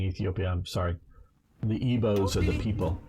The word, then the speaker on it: Igbos: The Igbos are the people. That's how I understand you're supposed to pronounce it, but I understand the G is sort of silent, but I may be wrong on that.